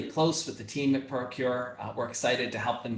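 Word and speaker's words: ProQR: from a company called procure pro qr it's pronounced procure and announced yesterday that procure was going to be partnering out their ophthalmic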